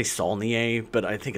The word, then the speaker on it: Saulnier: It's Saulnier.